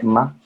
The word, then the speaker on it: Mma: Se escribe MMA, se lee Ma.